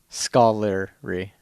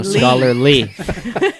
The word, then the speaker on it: scholarly: saw his scholary friends properly scholarly say it like there's three syllables scholar REE no scholarly like gently scholarly scholarly just fits